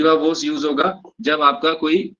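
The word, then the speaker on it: viva voce: कहते हैं वीवा वूस वीवा वूस वी ओ सी ई वीवा वस इसका प्रोनंसिएशन है वीवा वस वीवा बकुल स्पेलिंग है वीओ सीई ठीक है ववा वोस तो इसकी जगह ओरल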